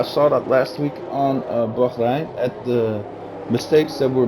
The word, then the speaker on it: Bahrain: No, I say it at the way they pronounce it over there. You say it in the English way. I say it in the native tongue of the sheiks who live over there.